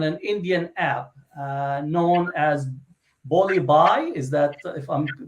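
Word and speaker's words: Bulli Bai: an auction on an Indian app known as Bollywood. Is that, if I'm pronouncing that correctly?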